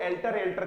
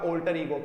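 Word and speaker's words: alter ego: पहली बात तो इसको लगभग इवन टीचर्स वो भी इसको एल्टर करते रहते हैं। यहां पर इसका प्रोनाउंसिएशन कतई एल्टर नहीं है प्यारे बच्चों, इसका प्रोनाउंसिएशन होएगा ऑल्टर ईगो, क्योंकि मैं आपको स्पीकिंग के लिहाज से भी इंग्लिश टीच करवा रहा हूं।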